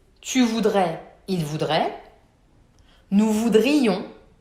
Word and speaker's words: voudrions: Nous voudrions, with a clear I, it's really marked.